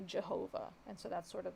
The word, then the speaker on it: Jehovah: over time but the the original pronunciation is like a yi kind of sound um so that's why like in german for example the j sound makes like a u sound like yeah and so if you were to take that and write it or use a german pronunciation it's like uh because the v makes a f as well uh but then reading that in more modern english um you would say jehovah and so that's sort